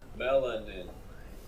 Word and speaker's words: melanin: Melanin, let's pronounce it. Melanin.